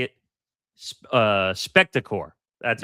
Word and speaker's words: Spectacor: Um, lost in last week's news of Comcast plan split from NBC Universal, was the status of Comcast Spectator, or is that how you say it? Uh, Spectacore, that's how you say the corporation sports and entertainment entity.